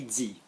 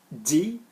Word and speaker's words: dit: Okay, moving on to number 4, then still on verbs, is silent consonants on the ends of verbs. Normally the present, but mainly the past. So, I said, j'ai dit.